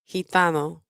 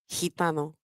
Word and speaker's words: gitano: The combination GI is pronounced in a similar way. Read word 13. Gitano. Gitano.